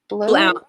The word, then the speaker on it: Blount: Is it Blount? Blount. Rhymes with count.